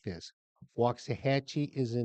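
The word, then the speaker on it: Waxahachie: The wax is spoken wax if you say it right. But it's wax to the lax. They've no linguistic might. Hatche rhymes with Apache.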